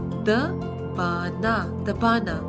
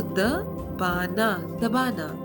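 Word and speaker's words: दबाना: To press something is the bana. So here the pronunciation of D is similar to that of THE, the. Okay, so the bana.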